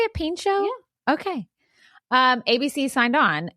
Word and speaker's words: Pinchot: Bronson Pinchot as the star of the show.